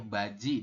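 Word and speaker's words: 바지: Di awal bunyi J, ditambah dengan vokal I, jadinya baji dibacanya kayak gitu ya.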